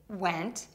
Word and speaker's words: went: To say wɛnt, start by saying W by rounding your lips, W. Add the short E vowel, then finish with the NT combination.